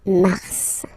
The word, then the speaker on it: mars: Okay, so in a way it's an exception because normally final S is not pronounced in French. Okay, we've got some exceptions and this one is one of them. So Mar pronounce the final S.